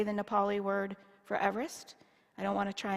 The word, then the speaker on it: Everest: in the mid-1800s and his name was actually pronounced Eve rest not Everest when it's got changed